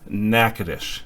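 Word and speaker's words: Natchitoches: it later becomes known as the town of nakadish and that's how it is pronounced the map that you see here is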